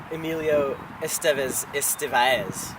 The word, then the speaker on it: Emilio Estevez: Now, Emilio, I just want to get the pronunciation right. It's Emilio Estevez, right? Correct. Now, Perfect.